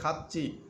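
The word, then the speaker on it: 같이: এখানে খাতি উচ্চারণ হবে না, এখানে হবে খাচ্ছি।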